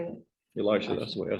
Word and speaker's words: Elisha: Elisha, that's the way I said it, yeah.